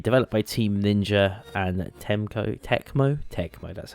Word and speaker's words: Tecmo: This is a beach volleyball game released in 2003, developed by Team Ninja and Tecmo, that's how you say it.